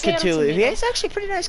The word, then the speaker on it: Cthulhu: His name is pronounced as Cthulhu.